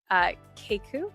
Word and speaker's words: Keikku: And then the product itself is Keiku, right? Is that how you say it? Yes. Keiku?